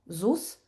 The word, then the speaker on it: ZUS: This is how it's spelled but we speak it out Zus.